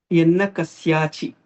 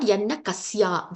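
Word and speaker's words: यन्नकस्यचि: Yannakasyachi. It is not Yanna Kasya. There is no Dirgam there.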